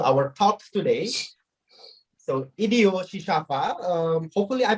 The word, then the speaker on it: Chichava: So Idio Shishafa, hopefully I pronounce it right. Is it Shishafa? Okay, cool. Idio Shishafa, the Mozambican dancer and choreographers, also the artistic